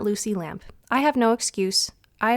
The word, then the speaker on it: Lampe: have recently found out that I have been mispronouncing her last name for years, and that her last name is actually Luci Lampe and not Luci Lampe.